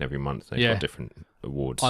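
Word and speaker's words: Awwwards: So one of the main websites that I looked through was awards Yeah. with 3 W's. Awards. Awards. That is how it's pronounced.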